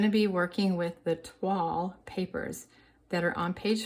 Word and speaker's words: toile: So Toile, T-O-I-L-E, is pronounced T-W-A-L-L, Toile.